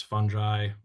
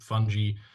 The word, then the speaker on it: fungi: be adamant that it's fungi or um funy to which my response is do you pronounce it fungus because it's usually not um so I I